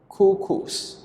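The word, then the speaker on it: couscous: with the first one we pronounce cuckoos cuckoos who coos so the word cuckoos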